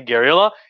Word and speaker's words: guerrilla: the term gorilla uh in spanish it's it's not spelled gorilla g-o-r with the like the the primates it's spelled g-u-e-r-i-l-l-a gariola it means the spanish little war the word for war